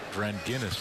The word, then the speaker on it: Dranginis: It's Dranginis, like the beer.